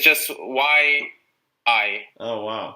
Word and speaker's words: YI: No, it's just YI. Oh, wow. Basically, it's just 2 letters, and they make a